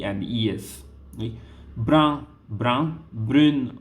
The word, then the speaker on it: brune: Brun, brun, brune, brune. Okay, here the pronunciation will be a bit different.